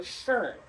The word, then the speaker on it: schön: If you don't know how to pronounce that, think of like an urn that you put ashes in. So schön.